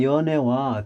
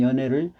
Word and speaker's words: 연애: 발음을 잘 해야 돼요 그래서 남녀간을 사랑을 뜻하는 것은 연애를 가지고 애자를 길게 발음합니다 혀를 앞으로 내밀면서 연애 이렇게 길게 발음하고요 그 다음에 그 대중